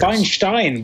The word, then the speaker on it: Weinstein: It's Steen, I think, but anyway, okay. Yeah, I don't know what it's right. Who cares? Weinstein would be the correct pronunciation. Harvey Weinstein. But he manages to pronounce the two things with different vowels.